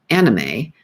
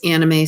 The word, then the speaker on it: anime: I was pronouncing it incorrectly. I always called it anime, but it's anime, Ahkneemay.